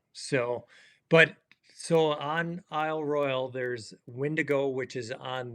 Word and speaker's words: Royale: I mispronounced it Al Royale you said it has a e on the end so what's it it has the e but it's only pronounced Royal okay well this location